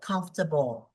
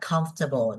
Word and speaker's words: comfortable: tới part 3 luôn, là em đọc cái từ đó thành 4 âm tiết. Đó, từ đó nó chỉ có 3 âm tiết thôi đúng không? Nó chỉ là comfortable nhưng mà em hay đọc là comfortable. Đó thì nó bị sai cái chỗ đó.